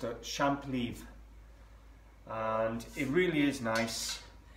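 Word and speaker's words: champlevé: It's pronounced a champ leaf, and it really is nice.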